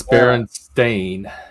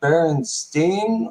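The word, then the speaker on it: Berenstain: I got fooled by that one too it's Baron stain listen I remember specifically I was in a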